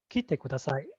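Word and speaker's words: 来てください: Now the key should be very lightly pronounced, but in this case, for the purpose of demonstration, I'm pronouncing the key, so you can kind of hear the difference.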